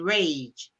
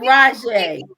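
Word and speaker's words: Rayge: They spell hate H-A-I-G-H-T and rage R-A-Y-G-E. It's height. It's height and Rajay. They say they pronounce it hate and rage, and then they say good luck, kid.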